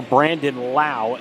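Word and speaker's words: Brandon Lowe: Same spelling in the last name, Lowe, and they have the potential, or somewhere down the road, to have 3 guys with the same spelling of the last name and 2 different pronunciations, as Brandon Lau strikes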